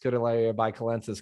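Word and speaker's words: Scutellaria baicalensis: so good I'm so happy to know I pronounced skodalaya by calensis correctly because most people stop it by Cal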